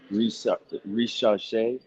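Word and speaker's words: Risacher: can't still into it look his last name is pronounced re rash but we nickname him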